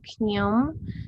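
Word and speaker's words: ខ្ញុំ: So to say I is Kyum. So here it has like an NH, but it's kind of like in the back of your throat, kind of like at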